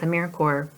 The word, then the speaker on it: AmeriCorps: be assisting the organization many people incorrectly pronounce AmeriCorps AmeriCorps that is what it looks like but remember to pounce at AmeriCorps like an apple corer or the Marine Corps another misconception is that